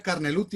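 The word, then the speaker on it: Carnelutti: No dice, pronuncia Carneluti así como está escrito.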